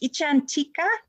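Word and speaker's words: icchantika: uh this word it's a foreign word it's pronounced ichantika and um what it means is a person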